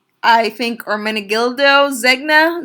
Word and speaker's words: Zegna: so this is I think our mini gildo Zegna Zegna it's how you pronounce that it's this again this - I've